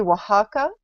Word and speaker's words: Oaxaca: And she also volunteers at a children's cancer center wing in, to pronounce it correctly, Oaxaca, in Mexico, applying EFT and energy techniques to